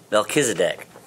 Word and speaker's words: Melchizedek: Melchizedek. Melchizedek. Yeah. Melchizedek. Yeah. I don't know. I didn't even know what I was going to get 5 points on. It was just motivation. I am. Yeah. So Melchizedek is a biblical character as well, in the